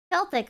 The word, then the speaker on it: Celtic: native to the island is it pronounced Celtic or Celtic the Norman were not Vikings I don't know a lot of chat saying the Normans were Vikings I thought the Vikings were from Scandinavia Celtic hard sea Recon noising you